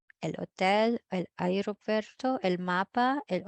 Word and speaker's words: hotel: Examples also los apartamentos, el hotel, silent H in Spanish, el hotel, el aeropuerto, el mapa, el operador, el tomate, and el melón.